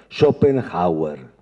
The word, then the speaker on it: Schopenhauer: Entre Kant y Nietzsche hay un filósofo que se llama Schopenhauer. Hm. Que es un cantiano bastardo totalmente. Shopenhauer. ¿Saben cómo se escribe? S H O P E N H A U E R Schopenhauer.